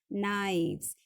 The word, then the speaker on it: knives: So this will become KNIVES, knives. K is silent, so you have to say knives when you pronounce it.